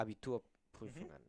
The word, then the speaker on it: Abiturprüfungen: Abiturprüfungen. I'm not even gonna Yes. try to pronounce that.